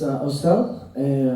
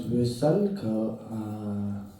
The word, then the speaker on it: Osel: Okay, so my name is Osel. Tibetan you would pronounce Vösal, Hanarvetawe Kausalasal, Vöselbos.